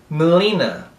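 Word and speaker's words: melena: Melina. Melina é como se você não pronunciasse esse E aqui. Pronunciasse só o M. E o estresse da palavra está aqui, no li.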